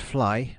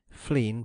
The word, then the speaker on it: Flegne: In times past, Flegne next Sea, pronounced Fly by the natives, Flegne by etymologists, and Flegne by the rare intrusive Cockney, had doubtless been a